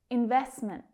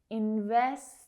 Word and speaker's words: investment: Investment. Investment. Now you can hear that those T sounds are very soft. Investment. Both of them are stop T's.